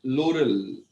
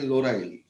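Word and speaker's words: lauryl: और फिरंगी लोग बोलते हैं लोरल, हम बोलते हैं लोराइल।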